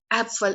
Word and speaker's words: Apfel: Now apple is apfel in German, and it is pronounced like apfel.